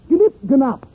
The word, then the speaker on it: gnip gnop: And remember, friends, ping pong spelled backwards is pronounced gnip gnop.